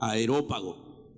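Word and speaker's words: Areópago: 19 tomándole lo trajeron al aerópago aerópago aerópago aerópago hoy lo pronunció bien entonces agarraron a pablo y lo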